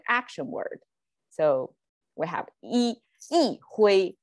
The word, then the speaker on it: 一挥: Okay, E is its normal pronunciation, but because a hui is also flat tone. So yi hui is kind of flat, bland. So we make it yi hui. So yi hui, 振臂一挥, instead of 振臂一挥. Okay, so that's just the sound tonation change in context.